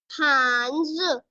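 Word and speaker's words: 汉字: हांज। हान पे कौन सी टोन है फातिमा? फोर्थ टोन है, फॉलिंग टोन है। हांज। हान से, गुड।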